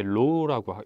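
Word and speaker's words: ρ: 저항을 작게 하는 방법은 저항이라고 하는 것은 얘 로우라고 읽고요.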